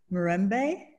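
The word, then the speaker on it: Mirembe: Marembe is the Luganda language word for peace. Is that right, Samite?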